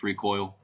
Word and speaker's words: ReKoile: I know it's spelled kind of funny. Koile, kind of sounds like Koile, but it's ReKoile.